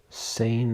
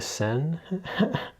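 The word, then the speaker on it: Seine: Sane River reopened after a century long ban. Are you aware about this? Sane River.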